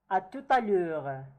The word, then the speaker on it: à tout à l'heure: Kind of there is such a lesion between the T and the A. It's like pronounced as if it is one word. À tout à l'heure, right? Because I have said already that if the T is followed by a vowel, we pronounce it, alright?